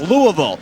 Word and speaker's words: Louisville: the number two seed we're used to seeing l-o-u-i-s-v-i-l-l-e playing in march madness and it's pronounced louisville in nebraska it's pronounced louisville and they are